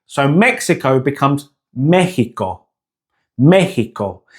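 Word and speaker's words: México: See how we end the word Mexico with the O sound in English. Now in Spanish, the pronunciation is with an O sound. So Mexico becomes Mexico. Mexico. It's a short, sharp O sound.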